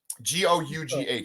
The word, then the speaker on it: Gough: It's like Michael Gow. Pennywise? Isn't it Pennyworth? Yeah, Alfred Pennyworth. But Michael Gow, right? Isn't that his last name? I'm not sure. Gough.